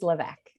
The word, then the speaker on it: LeVeque: to say it wrong my last name is levesque levesque okay that's right i